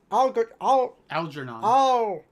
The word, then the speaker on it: Algernon: Algernon. Al. It's a soft G.